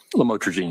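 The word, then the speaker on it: lamotrigine: about the u the lamel otherwise known as lamatraene. Did I pronounce that right? Lamotraine.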